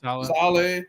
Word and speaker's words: Saleh: How do you pronounce his name? Robert Saleh. Saleh.